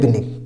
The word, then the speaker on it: Binet: नाम आप याद रखिए अल्फ्रेड बिने, इसमें टी साइलेंट है।